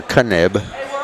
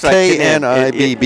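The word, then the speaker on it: Knibb: And Nib will be on the line. Or Kanib. Yeah, we're going to have to find that at halftime. I hate to call it wrong the whole game. Well, it's spelled K-N-I-B-B. Yeah, it's Knib, I believe. But just want to make sure of that.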